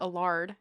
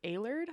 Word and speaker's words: Allard: have said that wrong it's a-l-l-a-r-d so i said a lard and it's alert i think i don't